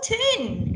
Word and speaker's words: thin: very easy thin t-h-i-n some people say she is so thin ah you can't because it is spelled as t h i n and it has that you know that symbol there so sir so thin thin this thin okay you cannot change